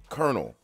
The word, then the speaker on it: colonel: Colonel. How is that word colonel? Is it C-O-L-N-E-L? Colonel? Colonel, yeah. That should not be pronounced colonel.